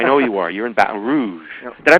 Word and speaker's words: Baton Rouge: You're in Baton Rouge. Did I pronounce that right? Yeah. Baton Rouge.